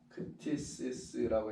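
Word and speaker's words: κτίσις: 여러분 크티시스라고 해야 되겠죠? 발음대로 쓰면 크티시스.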